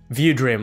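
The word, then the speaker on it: VuDream: The I looked into the is it pronounced VU Dream or View Dream? View Dream, like as if like you're viewing something.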